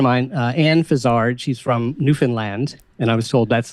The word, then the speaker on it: Newfoundland: So a very good friend of mine, Anne Fizard, she's from Newfoundland, and I was told that's the proper way to pronounce it, by the way, is a cartoonist.